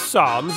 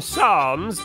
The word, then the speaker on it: Psalms: next question true or false the p in Psalms is a silent p true next question